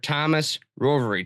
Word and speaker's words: Thomas Rovery: Thomas Rovery. Thomas, did I pronounce that correctly?